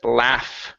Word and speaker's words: laugh: Next one here is the word laugh. Right here, instead of la, ah, it's ah. Short A sound, laugh.